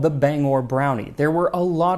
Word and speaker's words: Bangor: the form of song explaining that it is pronounced Bangor, not Bangor.